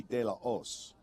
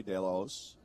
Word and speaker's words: De La Hoz: Now, we've never been told the official pronunciation, but it should be De La Os in proper Spanish without pronouncing the H. So I'm going to go that way, De La Os.